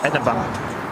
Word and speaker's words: Edinburgh: Yeah, but you've got to start off with Eden and then Borough and then combine them together and go Edinburgh.